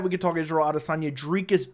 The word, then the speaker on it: Dricus: It is Dricus Du Plessis. That is how it's pronounced. So in case you're ever wondering, I am pronouncing it the right way. Dricus. Dricus. Almost like tree, if that makes sense.